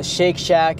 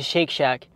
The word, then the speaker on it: Shake Shack: up I'm going to shake shack it literally rhymes with milkshake like milkshake Shake Shack Shake Shake Shake Shack